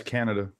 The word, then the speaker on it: Kanata: Ottawa our well technically Kanata Ontario pronounce Canada okay but whitening win